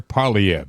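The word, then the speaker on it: Poilievre: your paycheck guy's great Pierre parv that's how he pronounces it uh and and he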